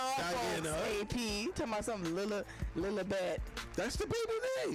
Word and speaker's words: Lilibet: No, it's Lilibet. It's Lilibeth. Look it up. That's not how you pronounce it. I don't care how it's spelled. Okay, but nevertheless, Lilibet. the baby's name is Lilibet after. It's Lilibeth. There's no H in there.